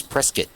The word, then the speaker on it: Prescott: I mean, I say Prescott, but it's not. It's Prescat. That's how everyone pronounces it.